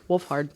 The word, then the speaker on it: Wolfhard: want to show paul rudd uh wolf finn woolford did i say his name right wolfened hound hand wolfhand something i can't remember it's wolfard wolfhard wolfhard anyway finn wolfhard you want to show those